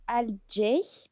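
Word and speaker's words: alt-J: Oui, alors, je vais vous parler aujourd'hui d'un groupe qui s'appelle Al J. On prononce à la britannique, n'est-ce pas?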